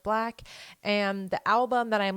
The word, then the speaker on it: 6LACK: and that is black I always want to say six laak but I do believe it is pronounced black and the album that